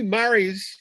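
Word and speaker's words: mares: interland wow how many mari's is that is that an american word only m-a-r-e-s no that's an italian word okay that means c spelled the same as a female horse but pronounced totally different yeah it is and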